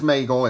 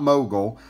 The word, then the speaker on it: Maegle: of the san francisco 49ers now the correct pronunciation is magel it's not mogul and he actually changed his name during his